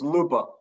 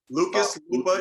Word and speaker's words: Luopa: you didn't get it what's the last name pronunciation it's lupa lupa lucas lupa here coming in new jersey i'm out here